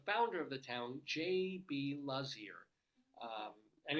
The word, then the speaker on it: Lazear: And it's one of those times, at least I was able to find how you pronounce it. Because some of these things, is it Lazear, is it whatever? It's Lazear, apparently.